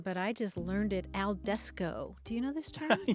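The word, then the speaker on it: al desko: word d s k alesco and it's playoff of al fresco which is outdoors yeah but I'm dining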